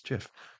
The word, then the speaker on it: GIF: how do you pronounce giraffe okay is that spelled with a J no it's not it's Jif choosy programmers choose gif uh uh Brian grew